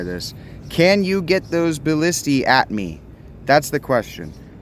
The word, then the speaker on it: ballistae: they'll just set those ballista up where they can't reach me. It actually is pronounced ballistae. But anyway, multiple ballista is AE, ballistae.